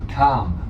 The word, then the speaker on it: calm: Calm. C-A-L-M. Okay. Yes. The L is That's silent. right. Calm. So 그러니까 calm도 L 발음이 안 나잖아요.